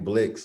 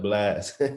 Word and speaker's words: Blxst: no a it's blxst a lot of people be thinking my name blix when they read it but it's pronounced blast no doubt bro hey